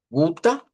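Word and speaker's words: Gute: Y la última, pues esta nos quedaría como gu, así como larga. Guta, más o menos así podemos ponerlo. Aunque a mí me gusta usar el UH para la ishba, pero a veces he visto a personas que las ponen así, como que fuera A, guta.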